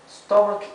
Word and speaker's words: stomach: e final ahí stom fíjense que aquí la ch y aquí también no se pronuncia ch verdad se pronuncia c la ch ahí y hay muchas hay muchos casos en que la ch en inglés se pronuncia eh K verdad que lo vamos a